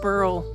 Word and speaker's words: burl: It's called a burl. It's, in case you didn't know, a burl rhymes with girl, or give it a whirl.